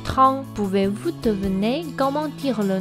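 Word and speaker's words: 汤: La soupe en chinois se prononce Trang.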